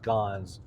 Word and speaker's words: scone: And actually, they're technically pronounced scons, but I think she actually called it a scone.